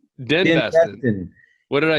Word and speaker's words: DenBesten: Kris DenBesten, not Ben Besten.